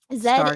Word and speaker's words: Z: I saw about Zed is UK AU pronunciation. Z is American.